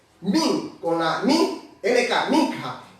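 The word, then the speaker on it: מנחה: hebreo, una palabra un poco bastante difícil de pronunciarla, pero es min con la K, minja. Min con la min, NK, minja.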